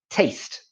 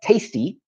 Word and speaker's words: taste: Again, a commonly mispronounced word, taste. Often this is pronounced as tasty, but this is how we say it.